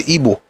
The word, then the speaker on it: Igbo: Because the Igbo people themselves pronounce it as Igbo. They don't say Igbo, they say Igbo.